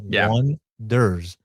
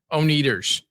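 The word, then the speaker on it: Oneders: So in the movie, the band's name is called The Wonders, but they spell it with an O-N-E, as in Wonders. Yeah, but everyone gets it wrong, and they call them the Oneaters.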